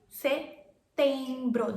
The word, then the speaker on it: setembro: And then comes September, setembro. There's no P in our setembro.